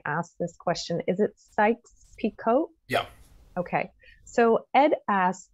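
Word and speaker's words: Sykes-Picot: so i want to make sure that i'm pronouncing this correctly when i ask this question is it sykes picot yep okay so ed asks if the sykes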